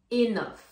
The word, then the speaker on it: enough: Enf, attention là la prononciation, le GH fait le son f. Enof.